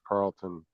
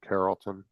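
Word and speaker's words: Carrollton: So, departed a facility in West Carlton, Ohio or Carolton.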